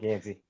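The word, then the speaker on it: Gansey: Yeah, Mike Gansy.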